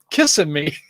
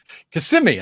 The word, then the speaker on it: Kissimmee: large metros orlando florida if you want to say kissing me kissimmee i think it's pronounced isn't it it's me it was in michigan